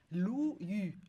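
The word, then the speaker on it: 陆羽: On prononce Lu. Lu Yu, Yu. pardon. Voilà. Lu Yu.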